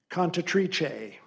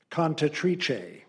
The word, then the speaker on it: cantatrice: Primary pronunciation: cantatrice. Cantatrice. Secondary: cantatrice. Cantatrice. Tertiary: cantatrice.